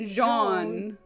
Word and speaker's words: Jean: It's pronounced Jean.